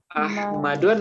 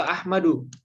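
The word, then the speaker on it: أحمدُ: Ahmadun atau Ahmadu? Ahmadu. Nah, Ahmadu. Tidak boleh tanwin, seperti yang tadi ya.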